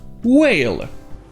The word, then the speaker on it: whale: Ici, le H est muet, donc ça se prononce bien, whale.